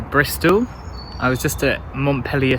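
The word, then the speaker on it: Montpelier: i was just at montpellier station that's how you pronounce it not montpellier we're not in france we're in bristol and i've come today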